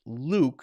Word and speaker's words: Luke: It's not exactly the same for you, for example, Luke, my name, is pronounced Luke, so there's not a y there.